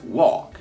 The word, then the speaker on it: walk: muito importante de inglês Walk você não pronuncia o l então vira Walk slowly vol slowly UOL